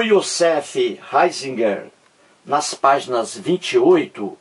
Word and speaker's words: Ratzinger: aí entra o Josef o Josef heisinger não é isso a pronúncia aí em alemão como aí me informou